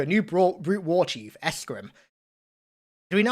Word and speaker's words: Escharum: We're introduced to a new brute war chief, Escharum. Do we know how to pronounce that yet? Escharum? Escharum? Escharum, maybe? Oh, yeah. Pronounce it emphasizing the Arum sounds quite Greek, actually.